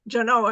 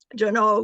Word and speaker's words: Genoa: in Sacramento on loan to the Nevada Museum Jano and that's how they pronounce it it was named after Genoa in